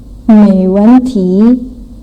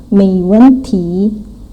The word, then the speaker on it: 没问题: And yang terakhir 没问题 mei nada 2, wen nada 4, dihentak wen, ti nada 2, 没问题.